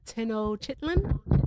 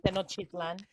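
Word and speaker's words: Tenochtitlan: Uh, Tenno Chitlin. Chitlin. Tennochitan. Yeah, Tino Chitlin.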